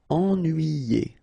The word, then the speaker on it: ennuyé: Okay, so first en, then nuit, then yé. Ennuyé.